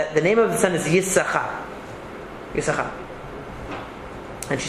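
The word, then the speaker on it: יששכר: So if you've ever noticed, Yisachar is spelled with 2 sin, that you don't pronounce the second one.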